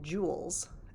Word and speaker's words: joules: to be measured in joules and that's abbreviated with a capital j so the pronunciation there is it's just like sort of the the fancy gems like diamonds and sapphires and rubies and so forth but